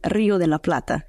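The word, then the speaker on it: Río de la Plata: and payments let's take the fery ACT the Rio de la PL is my pronunciation correct it's perfect yeah or if you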